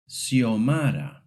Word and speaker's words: Xiomara: In rare cases, the X sounds like an S, especially in certain names. For example, Xiomara.